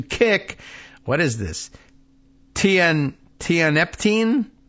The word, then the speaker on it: tianeptine: right let's hear it tianeptine tianeptine okay tianeptine uh TI yellow ribbon around the old dog tree tianeptine got it okay